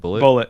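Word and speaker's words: Bulleit: Bullet, yeah.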